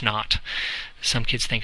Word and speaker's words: naught: so it's Delta H naught some kids think it's not n ot but it's actually not like zero and nothing so anyway it's Delta H nought that's the enthalpy measured